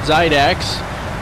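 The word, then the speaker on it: Xidax: He actually does build gaming computers, so maybe look at Zydax.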